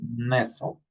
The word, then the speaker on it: nestle: Castle, hustle, nestle, okay? Remember, we don't pronounce the T.